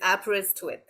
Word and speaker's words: Aberystwyth: the uh pronunciation so I break it down to three parts so it's ABS as an ABS that we all yearn for wrist and with so it's app wrist with and short form is